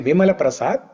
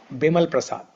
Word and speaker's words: Vimala Prasad: name is bimala prasad It's actually Vimala Prasad. But in Orya they they don't pronounce va. Oraya people Bengali people they don't pronounce va. So they say ba instead of va they say ba.